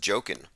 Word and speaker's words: Joaquin: tech tech inc says that joaquin is pronounced jokin of the the phoenix